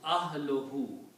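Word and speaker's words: أهله: So when you combine these two, this will be pronounced ahluhu. When you combine these, okay, it will become ahluhu.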